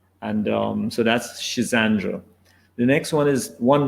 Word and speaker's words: Schisandra: ago um the third the next one is schisandra it's a Chinese herb and it's a very powerful tonic remedy and so you can get that easily in in Health Food Shops it's called schisandra s sh i z n d r a